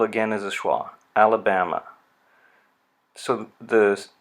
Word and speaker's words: Alabama: The first syllable has a little mark down below. This stress marker indicates secondary stress. So al. The next syllable is the vowel has been turned into a schwa. So it's ala, and so that's an unstressed syllable. And then the primary stress marker is before bam. So Alabama.